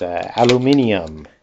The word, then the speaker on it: aluminium: know let's look at aluminium it's how they pronounce it in England so we have 13